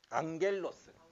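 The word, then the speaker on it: ἄγγελος: 같은 계열의 음성학적인 자음인데 이렇게 되면 응 발음이 난다 그랬어. 그래서 그 어휘를 읽으면 어떻게 발음할 것 같아? 앙겔로스.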